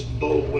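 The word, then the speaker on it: Boulware: Barrett Bowler? Yeah, Junior. Yeah, spell it. It's Bowler is how it looks.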